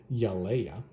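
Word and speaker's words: Yelaya: There is, we're going to say it correctly this time, Yaleia, lying down, as I understood she was there, and he has no idea how she's still alive.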